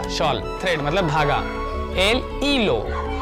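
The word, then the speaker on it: hilo: धागा, एल ई लो, एच है तो भाई एच साइलेंट होता है, फिर से बता दूं कि जब भी स्पैनिश भाषा में कोई शब्द एच के साथ शुरू होता है तो पहला शब्द एच, पहला जो लेटर है एच, वो हमेशा साइलेंट होता है, उसके बाद से शुरू करते हैं तो ये क्या होगा, ई लो, एल ई लो, और एल और ला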